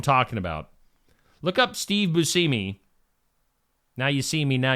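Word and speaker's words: Buscemi: swinging uh actor Steve busi is that he say his name bumi bumi you seei do you see me do you not Bui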